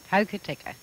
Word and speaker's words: Hokitika: here in this little town how do you pronounce that name again hokitika and uh near here some 40 miles away